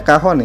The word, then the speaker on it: cajon: Kemudian ada, nah ini dibacanya kahon ya.